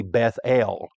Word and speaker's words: Bethel: We would pronounce it Bethel. Maybe a correct pronunciation, it would be Bethel, because it's really two words. The word Beth means house, and the word El is an abbreviation for Elohim, God.